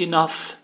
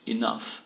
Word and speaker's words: enough: A outra, muito usada, é enough, né? Suficiente, enough. Geralmente você não pronuncia o GH, mas quando você o pronuncia, ele é um F.